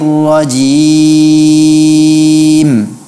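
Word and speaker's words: الرَّجِيم: Pada saat kita berhenti di ujung kata ar-rajim, hindari memberikan ghunnah. Ya. Yang Ustaz dengar Maimunah membacanya ada ghunnahnya di belakang. A'udzu billahi minasyaitonir rajim. Ini keliru ya, seharusnya tidak ada ghunnah.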